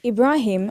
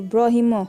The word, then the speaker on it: Ibrahim: Some people will take Ibrahim and change it to Brahimo or Burimo.